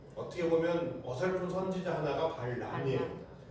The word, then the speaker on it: 발람: 왕 이름은 발락이고, 그 다음에 하나님의 뜻을 전한다라고 해가지고 부탁했던, 어떻게 보면 어설픈 선지자 하나가 발람이에요. 람과 라 차이예요.